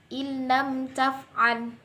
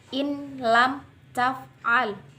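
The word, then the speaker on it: إن لم تفعل: Illam taf'al. Di situ dimasukkan namun tidak dengung. Tidak boleh dibaca in lam taf'al karena di situ dimasukkan namun tidak dengung.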